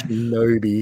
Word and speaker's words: Shinobi: It's just like, oh, I see how it's meant to be pronounced now. I get newbie. it. Yeah, Shinobi. Not Yeah. Shinobi, Shinobi.